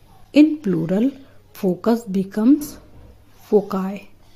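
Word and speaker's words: foci: इसको ध्यान रखिएगा और इसका प्रोनाउंसिएशन इसको फोकी ना प्रोनाउंस करें सही प्रोनाउंसिएशन है फोकाय the diagnosis was difficult to make without further testis.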